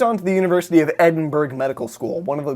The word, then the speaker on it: Edinburgh: to the University of Edinburgh medical school one of the greatest medical spur Oh Edinburgh Edinburgh what not Edinburgh you don't pronounce the G in the live demonstrations